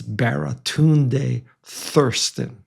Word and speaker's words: Baratunde Thurston: And I hope I get his name right because he said no one has ever mispronounced his name. I don't want to read the first one. It's Baratun Thirsten.